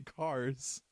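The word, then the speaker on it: Kars: aren't very far off his name is actually cars spelt with a k wait his name is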